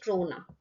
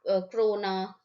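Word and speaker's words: krona: की करेंसी है Swedish क्रोना. ठीक है, don't get confuse in this spelling, you know, क्रोना, क्रोन, ठीक है, करोना मत कर देना, बस कोरोना.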